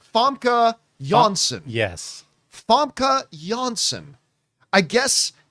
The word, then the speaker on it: Famke Janssen: Janssen, or, as I've been told, is properly pronounced Huskis Vorg Visky Vorg. Or it's Famke Janssen.